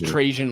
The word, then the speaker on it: Trajan: I don't know how to pronounce it. Trajan. It's Trajan Langdon.